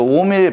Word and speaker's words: 옴: 이걸 이제 우리가 읽을 때 옴이라고 읽죠. 그래서 옴의 법칙이다라고 해가지고 옴이라는 사람을 기르려고 옴이라고 읽어요.